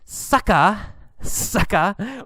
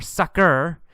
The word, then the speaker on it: sucker: And then sucka or sucker, two pronunciations, sucker or sucka.